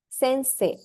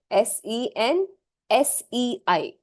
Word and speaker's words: Sensei: I'm still typing that word it's not detached Sensei s e n s e i Sensei it's not uh Sensei or SanSai or nothing it's Sensei very clear s e n s e i Sensei right hanaka Sensei now coming to the